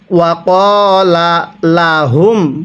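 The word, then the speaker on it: وقال لهم: শুধুমাত্র একটি লাম উচ্চারণ করি। এরকম ভাবে পড়লে পড়াটা সহি শুদ্ধ হবে না। আমার সাথে পড়ুন। ওয়াকলা লাহুম পড়ুন।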